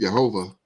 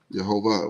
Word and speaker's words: Jehovah: and he said it, Jehovah. I was like, "Where'd you get that from?" But Right. that's how they pronounce it, that's how the Jewish pronounce it, Mm-hmm. Jehovah. When they do, they mostly